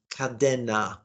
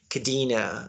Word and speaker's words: Kadena: in honto Okinawa just so you know it's pronounced kadena Kad yeah you miss laughing because when we